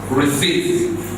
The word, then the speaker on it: receipt: so I'm this receip no the is not pronounced this is what receipt what I to say